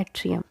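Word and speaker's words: atrial: we have to एट्रिया एंड to ventricular इसको pronounce करते हैं एट्रियल एट्रियल का ऊपर यह छोटा सा ठीक है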